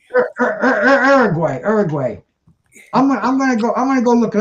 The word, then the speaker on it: Uruguay: No, you said Orgway. Uruguay.